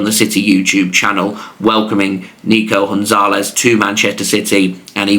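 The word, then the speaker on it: Nico González: his name would be Nico Gonzalez of course with him being Spanish they're going to roll that g into a h uh I'm so used to seeing it pronounced Gonzalez I've gone with that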